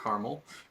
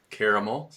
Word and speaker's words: Caramel: They released 2 songs this month, Emergence and Caramel, not Caramel, Caramel. So if you know, you know. Of course, and that's also the right way to pronounce it.